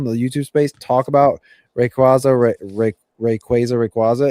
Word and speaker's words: Rayquaza: Plenty of people pronounce it both ways but the correct way is Quay.